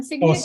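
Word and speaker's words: Cygnet: I also love Signet. I don't know how to pronounce it. It's like Signet. Like a baby swan signet?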